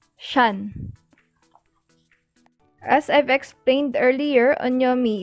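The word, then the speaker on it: 山: this kanji though in chinese this kanji is pronounced shan as i've explained earlier onyami is derived from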